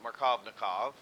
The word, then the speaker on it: Markovnikov: conditions just right for this rule to apply pronounce it markovnikov okay you have to have the asymmetric reagent